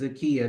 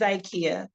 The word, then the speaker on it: Zakkiyyah: how I pronounce it it's zika okay zika so just like if you think of the store IKEA put a z in front of okay zaka okay